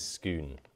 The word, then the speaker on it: Scone: you just tell us how should we pronounce is it SK or scone um scone SC or scone confusing um this is scoon Palace right yeah and uh before